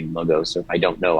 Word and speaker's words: Logos: We use LOW-GOSE with people who've learned Greek in America because they've most likely learned the Erasmus pronunciation LOW-GOSE. But people who haven't taken Greek will think it's LAGAS, so we say LOGOS to make it clear it's two O's.